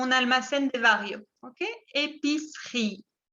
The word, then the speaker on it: épicerie: Épicerie. Y la segunda E no se pronuncia.